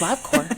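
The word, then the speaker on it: Labcorp: Honestly, like everybody's saying Labcore because he's like, you know, like Marine Corps, it's Corp.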